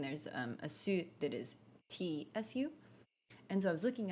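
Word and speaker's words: つ: So there's su that is pronounced like su, but then there's a su that is tsu.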